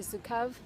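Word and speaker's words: Zukav: I read this beautiful quote Yesterday by Gary zukov and that's how you say his name the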